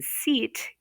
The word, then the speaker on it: seat: So in seat, there's an EA, but it takes the sound of the first vowel, which is an E, and that is long, and we'll say seat.